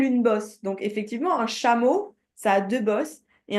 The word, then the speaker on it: chameau: En français, ça se prononce chat. Ah. OK? Chat. Chameau, chamelle, chamelon.